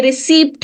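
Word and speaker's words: receipt: ई आई पी टी लिखने में यह रिसीप्ट है बोलने में ये रिसी है इट इज नॉट रिसीवड okay now let's cover the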